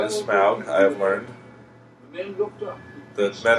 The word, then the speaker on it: Smaug: can't quite see them very well yet they pronounce it smog in this movie the correct pronunciation is smaug i have learned the men are very surprised